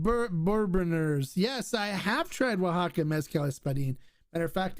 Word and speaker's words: Oaxaca: buy anything from oaxaca and it's spelled w-a-h-a-k-a just for those like like he's spelled it here on the it's spelled exactly like that um their mezcals are